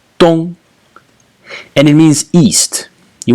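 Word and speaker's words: 東: character actually is is the character which is pronounced Tong and it means East you might not recognize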